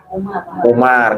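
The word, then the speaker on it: عمر: Kalau ain mim ro Umar.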